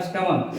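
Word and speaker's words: stomach: Words के अंत में सी एच का उच्चारण, ठीक है, उच्चारण जो है क के समान हो, क्या हो?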